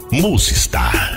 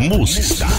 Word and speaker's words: Musistar: A pronúncia ainda não estava como deveria ficar. Foi então que definitivamente seus idealizadores retiraram a letra C da palavra music e uniram o star. Desde então formou Musistar. Musistar.